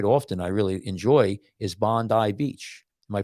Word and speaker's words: Bondi: Now, the one channel that I watch quite often, I really enjoy, is Bondi Beach. Am I pronouncing it right? Is it Bondi Beach? Bondi.